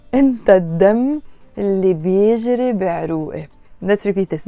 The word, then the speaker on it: الدم: الدم, we write it الدم, the blood, but we pronounce it الدم because the word دم starts with a dal, and the letter dal, the d, d, d sound, is a sun letter, and all the words in Arabic that start with a sun letter, when we add an l to them, we have to not pronounce the l.